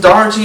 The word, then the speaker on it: Daugherty: the night talk singer songwriter poet Luke Austin Dy am I pronouncing your last name right yeah you got